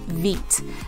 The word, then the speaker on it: Veet: recommend is a hair removal depilatory cream called veet that's spelled v-e-e-t and i have used veep for